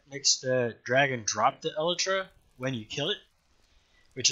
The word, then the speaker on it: Elytra: kind of need both an Elytra, which is the correct pronunciation, by the way. Elytra, it's not Elytra. And it is certainly not Elytra.